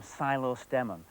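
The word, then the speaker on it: psilostemon: geraniums is this one geranium silo stemmon phthalo stem with a silent paint i much prefer its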